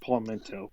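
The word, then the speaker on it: palmetto: it palmento or PTO oh it's called It's pronounced palmento but it's p a l m e t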